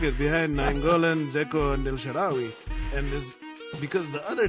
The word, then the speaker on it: El Shaarawy: Yeah, how do you pronounce it? El Shaarawy? El Shaarawy.